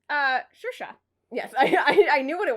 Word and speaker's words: Saoirse: It's Saoirse.